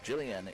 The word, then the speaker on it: Jillian: 11 Madison Jillian so it is Jillian Jillian is how you say her name so I do apologize